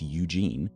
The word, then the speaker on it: Eugen: Also, isn't it weird that when it's spelled like this, it's Eugene, in English at least, but when it's spelled like this, it's Eugen?